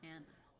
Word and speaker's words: Ana: Especially if it's something like Hispanic, like Ana, I feel like it's a very Hispanic pronunciation, so people don't want to wash it down and say Anna. But mine is actually Ana.